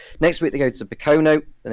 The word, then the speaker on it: Pocono: It cracked me up, and so I think you said Pochino, or how'd you say it? Pocono. I think it's meant to say.